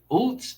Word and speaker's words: Utz: Is it Utz or is it Oots? Oots, damn, man, I'm retarded.